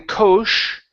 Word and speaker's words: coach: on Coach okay so instead of saying coach okay with an sh it's a CH sound coach coach coach coach